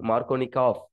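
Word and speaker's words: Markovnikov: But pronunciation பண்ணும்போது மார்க்கோனிகாவ் எஃப்எஃப் அப்படின்னு pronounce பண்ணுவோம், மார்க்கோனிகாவ் அப்படின்னு சொல்லுவோம். ஓகேவா?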